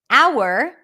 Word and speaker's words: hour: Hour, good, not pronounced.